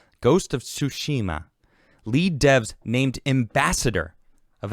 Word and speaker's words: Tsushima: Tsushima. I think you have to say it fast. You can't pronounce it all. Ghost of Tsushima.